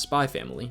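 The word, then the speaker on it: Spy × Family: And the highly anticipated Spy Family, yes, it is pronounced Spy Family, just how Hunter x Hunter is pronounced, well, Hunter x Hunter. And the highly anticipated Spy Family reigns as not only one of the most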